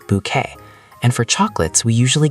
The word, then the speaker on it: bouquet: That's a French word we use in English. B O U E T, pronounced bouquet.